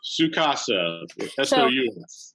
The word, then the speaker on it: Su Casa: what you're doing now su casa right so sue as in sous chef sucasa is that how it's